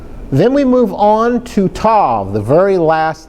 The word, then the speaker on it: Tav: So this is Tav. Sometimes it's pronounced towel, not towel like you dry with, but towel.